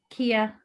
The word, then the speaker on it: Kaya: Kaya, is it pronounced Kaya or Kia? Kia.